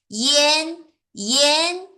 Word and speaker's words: ian: 이하고 안 연 하지 마시고요. 이엔 이엔 이런 식으로 발음해야 됩니다.